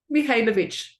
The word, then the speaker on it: Mihajlovic: Today, we have with us, and I don't want to murder your name, Mihajlovic. Spell it, say it for me. Mihajlovic.